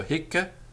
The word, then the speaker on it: hic: peculiar in Latin because they are spelt with one C at the end of the word, but the Roman grammarians are quite clear that they are pronounced with a double C, particularly before a vowel. So hic, haec, hoc, meaning this.